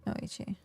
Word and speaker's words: noite: The T is a ch sound. And that is like, that's interesting. Noichi. Interesting.